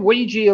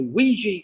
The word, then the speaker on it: Ouija: i wanted was a ouija board ouija of course rhymes with fiji so ouija and fiji well then